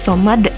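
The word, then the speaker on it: صَمَد: Allahus somad, bukan Allahus somadu, tapi Allahus somad.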